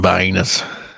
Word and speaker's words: Vienna: I just had me some Viennas. Oh yeah. Hot dogs. And that's how you pronounce it, by the way, Vienna.